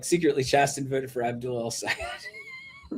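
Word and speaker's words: Chasten: Uh so they were like Pete voted for Haley Stevens, but uh Chason, right? Is that pronounced Chaston? Chaston. Sorry.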